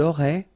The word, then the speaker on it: auraient: And then look, if you've got A-I-E-N-T, then phonetically it goes like aurait.